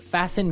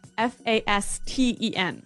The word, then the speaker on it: fasten: It's spelled F A S T E N. Right. So, it would be fasten. No. No. Right. Fasten. Fasten. The T kind of becomes silent.